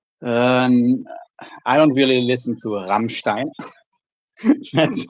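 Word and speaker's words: Rammstein: Um, are you a uh Rammerstein fan? I don't really listen to Ramstein. That's how they're actually pronounced.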